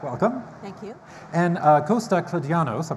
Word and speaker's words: Kladianos: And Costa Kladianos, I pronounced it correctly.